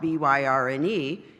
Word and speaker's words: Byrne: I mean, but I thought, well, okay, so my name, even though it's spelled B-Y-R-N-E, is pronounced Byrne.